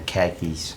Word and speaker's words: khakis: And like some khakis. Did I say khakis right? I used to pronounce it wrong.